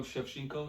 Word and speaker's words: Shevchenko: Yeah, Valentino Shevchenko.